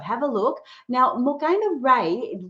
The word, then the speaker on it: Ra: Now, Morana Ray, Ray is spelled R A.